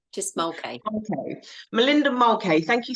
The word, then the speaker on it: Mulcahy: Could you please pronounce it for me so I can get it right? Mulcahy, just Mulcahy.